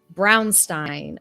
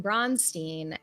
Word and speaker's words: Bronstein: correct in the chat the correct um kosher pronunciation is Brownstein however um I started using bronstein uh because I'd never heard it really pronounced like before I saw secrets of Blackmore and then I watched secrets of Blackmore and I changed my pronunciation and then people were like oh this girl's getting bullied out of using a regional dialect and so I just went back to Bron nothing can ever be